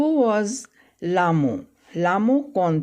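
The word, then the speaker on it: Lhamo: हु वॉज लामो, लामो कौन थी? तो यहाँ देखिए स्पेलिंग, और यहाँ पर एच जो है यहाँ पर साइलेंट है।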